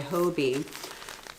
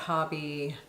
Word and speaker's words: Hobbii: But I love that Hobbii Hobbii. I'm not sure. It's 2 B's, Hobbii. So English rules tell me it's Hobbii, but I've heard people pronounce it Hobbii.